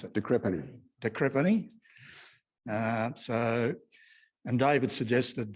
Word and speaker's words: de Crespigny: And Richard de Crespigny will be talking about his life in the RAAF, plus flying the A380 when the engine exploded, that fairly major incident. How do you pronounce it? De Crespigny.